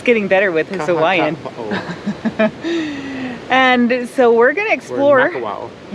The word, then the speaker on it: Makawao: Makawao recreational area. Easy. Say that again. Makawao. Mike's getting better with his Hawaiian. Makawao.